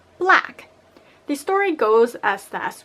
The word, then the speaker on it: Black: So first off, we have Buraku, or more accurately pronounced, Black.